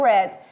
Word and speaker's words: read: Mas quando eu leio essa palavra aqui, eu vou ler read, eu não vou ler read, tá, gente? Então, ele tem o som da palavra vermelho em inglês. Vermelho em inglês não se escreve assim, todo mundo conhece. Não se escreve assim, modo de dizer, claro que se escreve assim. Eu leio red.